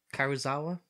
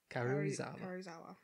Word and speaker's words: Karuizawa: They're going to go to Karuzawa, I think is how you pronounce it. Karuzawa? Karuizawa.